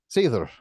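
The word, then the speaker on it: seiðr: Is Sior how you say it? Seether.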